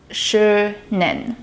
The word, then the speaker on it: schönen: The SEH in schönen is pronounced like the English SH sound, so it's pronounced schönen.